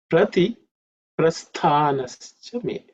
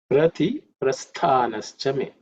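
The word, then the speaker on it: प्रतिप्रस्थानश्च मे: In terms of pronunciation, the word stha, the tha is an aspirated letter, which is the second letter in the tha varga. So it has to be aspirated with some extra air.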